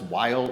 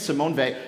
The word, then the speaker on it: Simone Weil: You might hear people mispronounce that. I mispronounced it the first time I mentioned her name at the beginning of the series. So, that happens. Her name is Simone Ve.